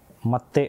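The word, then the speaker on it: 待って: இந்த சின்ன சவானது எந்த எழுத்துக்கு முன்னாடி வருகிறதோ அந்த எழுத்தோட சவுண்ட வந்து எம்பதைஸ் பண்ணும் அதாவது வந்து இன்னும் கொஞ்சம் அழுத்தமாக மாறும். அதாவது தே அப்படின்றது வந்து இத்தே அப்படின்னு வந்து மாறும். அதுதான் இங்க மத்தே அப்படின்னு வந்து உச்சரிக்கப்படுது.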